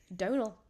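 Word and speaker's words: Domhnall: Donal.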